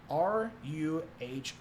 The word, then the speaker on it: Ruhr: jut over into the rural valley. I can't say that correctly. Ruhr is how it's spelled in German. But they want to go